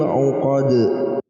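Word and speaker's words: عُقَد: Ketika ada huruf qalqalah jatuh di akhir ayat dan kita berhenti di ayat tersebut, maka kita baca dengan pantulkan. Ya. Kita pantulkan huruf itu. Bagaimana bacanya? Wa min syarrin naffatsati fil uqad. Uqad ya. Dalnya kita pantulkan.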